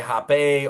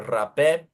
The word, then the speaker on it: Rapé: So you can either say Hape or Rape.